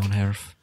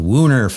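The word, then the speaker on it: woonerf: Von Erf. I need to keep working on my pronunciation of I keep calling it Woon Erf and our Dutch friends are saying, no, Von Erf.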